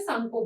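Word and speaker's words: Tsangpo: टी तो सांगपो नहीं बोलेंगे, टी साइलेंट रहता है, सांगपो बोलते हैं।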